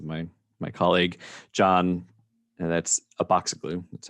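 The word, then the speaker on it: Abatzoglou: And I just wanted to highlight, because this is my colleague John, and that's Aboxiglu. That's how you pronounce his last name, Aboxiglu.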